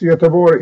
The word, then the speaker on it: Göteborg: Yeah, TEDx Göteborg is the Swedish pronunciation, is the city.